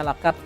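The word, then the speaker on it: لقد: Kemudian di kalimat laqad khalaqnal, nah itu terbaca laqad. Ko dan kaf harus diperhatikan jangan sampai tersalah.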